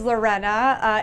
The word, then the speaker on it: Lorena: My name is Lorena. It is spelled like Lorena Bobbitt, but pronounced more racist, okay?